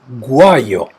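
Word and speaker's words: guaio: contains the consonant G but this consonant has the same sound in English G as in gold this is guayo the stress is on the a it translation is something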